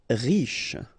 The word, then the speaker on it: riche: Riche, final E not really pronounced, so sh is the last sound, riche.